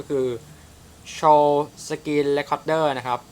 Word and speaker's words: Shou: ได้ ครับ ก็ คือ Show screen Record นะ ครับ อ่าน ว่า โชว อ่าน ดู ใน ฟัง